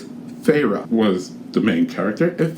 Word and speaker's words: Feyre: I think by the end of it, I was just calling her Fee because I couldn't figure it out. I just did not know how to pronounce her name. Apparently, it's Feyre was the main character, and Feyre is the main character here.